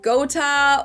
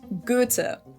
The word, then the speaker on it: Goethe: is a different way of spelling for the O umlaut, and the H is silent, so his full name is Johann Wolfgang von Goethe.